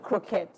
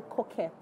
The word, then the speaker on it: croquette: For the English people, they call it croquette. Okay. But for French, it's potato coquette. Coquette. So, yes. So the R is silent.